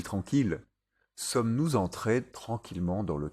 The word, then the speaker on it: tranquille: Ville, tranquille et mille, et leurs dérivés comme villégiature, tranquillement ou millénaire. Ils se prononcent il.